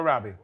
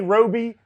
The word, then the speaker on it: Robbie: Harley Quinn actresses pronunciation yes it is Margot Robbie yeah Margot Robbie Robbie some people want to say Roby things like that people